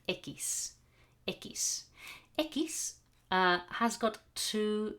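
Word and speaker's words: equis: one x okay which is nice it's called ekis has got two sounds two possible pronunciation the most common it's like a k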